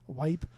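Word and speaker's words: Weippe: And it's spelled w e i p p e, Wipe.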